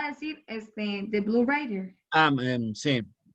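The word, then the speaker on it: Reiter: se llama Blow writer que se escribe raiter e suena en alemán a writer escrito riter o sea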